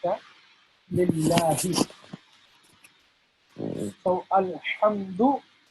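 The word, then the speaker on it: لله: So this H here in Lillahi is regular H. H for horse, Henry, etc. Lillahi. Not Lillahi or Lillahi, nothing like that. Lillahi. So Alhamdu Lillahi.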